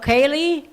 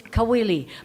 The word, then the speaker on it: Kawili: And I've been called Kaylee, it's Kawili.